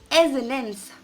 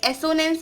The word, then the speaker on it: assonance: Poetic device which is एजोनेंस। कई लोग इसे एसोनेंस पढ़ते हैं लेकिन इसको एसोनेंस नहीं पढ़ते। The correct pronunciation of this poetic device is एजोनेंस।